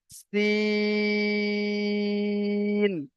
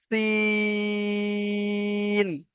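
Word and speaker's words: سين: তো এই অক্ষরটার নাম হলো সিন। এরও মাঝখানে টান হবে, শেষে টান হবে না। সিন, এমন ভাবে যদি বলি তো ভুল হবে। এর সঠিক উচ্চারণ হবে সিন। সি, টান দিয়ে দন্তের না গিয়ে থামবে, সিন।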